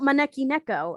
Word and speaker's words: Maneki Neko: How about Maneki Neko? And because that's how you pronounce it in Japanese.